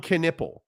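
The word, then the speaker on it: Knueppel: Con Knipple. Yeah, that's how you pronounce it, Knipple.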